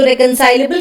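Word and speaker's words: reconcilable: इसको प्रोनाउंसिएशन भी देखिएगा, रेकनसाइल होता है, वहीं से एबल लगा दिया है। तो रेकनसाइलेबल का मतलब होता है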